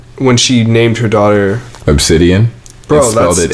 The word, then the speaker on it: Abcde: and it's obscene stop her name is spelled ABCDE and their name is obsidian you're lying down talk